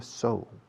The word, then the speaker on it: sew: Se escribe seu, pero se pronuncia sew. Como sew para el caballo.